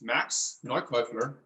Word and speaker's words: Neukäufler: It's Max Neukäufler. I try to pronounce it how it is pronounced in German.